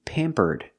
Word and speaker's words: pampered: In passive voice, to be pampered. I use the verb to be plus pamper in a participle, pampered, with the D sound at the end.